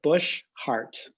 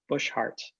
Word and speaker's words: Boshart: problematic but uh it we pronounce it bush heart so if you think about the heart in your chest and the shrub bush heart and i don't know